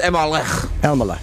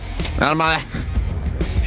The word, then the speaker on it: Elmaleh: It's pronounced Elmaleh. Elmaleh.